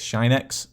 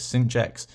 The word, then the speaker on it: sinh: Now, just a note here, there's a few different ways you can pronounce this. I call this sin x, but some people might call this sinh x. It's kind of which way you've kind of learned this, but that's the way I call it.